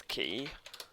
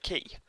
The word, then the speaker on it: Quay: I promise you it's Quay. I know it's spelt Quay, as I thought it was for many years, but no, it's definitely Quay.